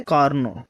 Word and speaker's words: Carnot: जो इसका प्रोनाउंसिएशन है वो है कॉर्नो।